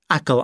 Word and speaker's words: Achill: It's built on one of the most beautiful islands I have ever visited, Achill Island. You say Achill, but it's spelt A-C-H-I-L-L.